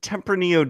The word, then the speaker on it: Tempranillo: other thing is uh Tempranillo does not have a double r so you don't roll it oh there you